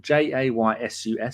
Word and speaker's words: Jesus: it low to Jesus, who I now spell Jaysus, so I remember how to say it.